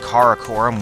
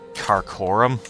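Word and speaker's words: Karakorum: So, I knew that Caracorum was uh important and that I was pronouncing it wrong. I called it Carorum. I think that was just me not reading it correctly.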